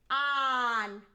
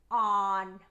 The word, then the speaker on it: han: And ellos, ellas, ustedes, han. The H is silent, so it's H-A-N. Don't forget to put the H. It's important, but it's silent.